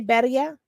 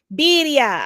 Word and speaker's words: birria: How do you say? Did I say it right? Did I say barilla? Can't hear you. Birria.